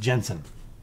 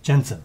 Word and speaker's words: Jentezen: He has an unusual spelling. It almost looks like Jentezen Franklin. Yeah. But it's always just pronounced Jensen. Okay. Jensen.